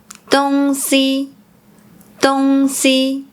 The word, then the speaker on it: 東西: like “si3 huan1” Pronouncing “東西 thing; stuff” as “dong1 si1” Sometimes, they also pronounce “j” similar to the “z” sound.